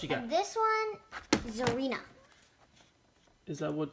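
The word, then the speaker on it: Tsareena: And this one, Zarina. Is that how you pronounce it? Yes, even though there's a T, it's pronounced Zarina, the T sound.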